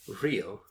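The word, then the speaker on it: Rhyl: in the town of real I believe it's pronounced but what do I know in North Wales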